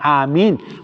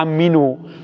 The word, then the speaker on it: Amin: So, sa pagbigkas mo ng amin, pagkatapos magbigkas ng imam ay ang amin ay may dalawang mad. Mad sa doon sa mi. Amin. Matagal po doon sa a at saka mim. Amin.